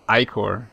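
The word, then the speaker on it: ichor: challeng filled with magical eor that's pronounced ior wow I'm correct choose your iore wisely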